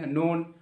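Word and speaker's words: known: কি না উচ্চারণ বাম হইয়া কে তো পুরো সাইলেন্ট মোডরে থানায় চুপচাপ কিন্তু ও ধানা নেপে knowledge নোন কে এন ও ডব্লিউ এন নোন knowledge নোন knife আটি কিছু আরম্বি না যখন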